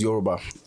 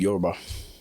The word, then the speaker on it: Yoruba: Like the Americans would say Yoruba. Oh, so it's Yoruba. That's how the Americans say it, right? American would say Yoruba. Yeah, all right. How do you say it? YORUBA. YOURUBA. Yep, I know exactly what